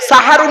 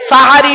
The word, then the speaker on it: সাহারি: সিগিরুন মানে জাদু করা আর সিনে জবর দিলে দন্তের সয় আকার দিলে সাহারুন মানে হলো রাতের শেষ অংশের খাবারকে আরবিতে সাহারি বলে তাহলে শব্দটা কি হবে সেহরি না সাহারি তাহলে ভুলটা ভাঙলো অবাক লাগে তবে যারা